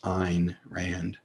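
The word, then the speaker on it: Ayn Rand: mispronounced she herself said if you want to pronounce my name correctly understand it should rhyme with line so it should be pronounced ein rand through a novel atlas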